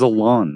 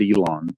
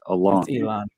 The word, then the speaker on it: Alon: __ ] yeah Alon his name is Alon not Elon it's Alon Elon sounds like he